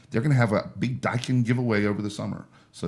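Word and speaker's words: Daikin: And like we said before, they have that um it's spelled D- AI KN. He says it's pronounced Dykan is the um air conditioning company. They're gonna have a big Dykin giveaway over the summer.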